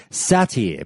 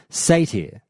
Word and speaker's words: satyr: Countdown to Classic that I used to say satyr, but it's actually pronounced satyr, I believe.